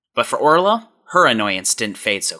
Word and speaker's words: Orlaith: Her name was spelled o r l a i t h and has been subject to all of her teachers and peers every year calling her Orlaith.